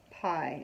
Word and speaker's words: pie: So when you sound this word out, it's just P-I, pie, and you don't hear the E at all. The E is saying nothing at all.